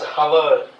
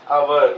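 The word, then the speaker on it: hour: But even if it is consonant, we do not pronounce it as hover. We have to pronounce it as our.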